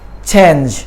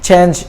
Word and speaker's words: change: Now let me give you one tip here. Any word that has an A in the middle and E at the end, it is pronounced with the A sound. For example, cake, safe, lake, lace. Okay, similarly, change, not change.